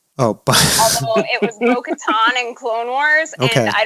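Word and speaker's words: Bo-Katan: it was is it bo katan that she played yes um although she pronounces her name in the episode where they're in sea world she says it's boca tan oh it was mo katan and clone wars and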